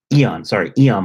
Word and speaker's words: Aeon: They have in the mall, Aeon Mall, which is close to here. But Aeon is a big company. Eon Mall is how you pronounce it.